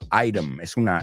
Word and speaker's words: item: Bueno, con inglés americano nos comemos. Item. La T es una D.